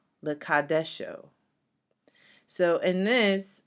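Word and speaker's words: לְקַדְּשׁוֹ: The second scripture is Exodus 20, verse 8, which says, Zakor et Yom Hashabbat Lekadesho. Lekadesho. So in this, because the dalet is doubled and there is a sheva under it, it's lekad, and then you got to double that dalet, lekadesho, lekadesho.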